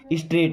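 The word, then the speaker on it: straight: स्ट्रेट, यहाँ पे जी और एच साइलेंट होगा ना, स्ट्रेट का मतलब सीधा होता है।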